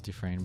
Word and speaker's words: Dufresne: Dufresne? No, it's Dufresne, but it's spelled Dufresne. Huh? Yeah. Which is, you know, weird.